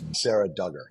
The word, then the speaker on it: Sarah Dugger: scale textile work that I found particularly intriguing Sarah Dugger did I pronounce that correctly yep yep okay fantastic so